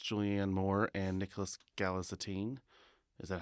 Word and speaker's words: Galitzine: George on Stars it's Julianne Moore and Nicholas galatine is that how gine galitzine that's it I never pronounced that correctly um it's pretty good and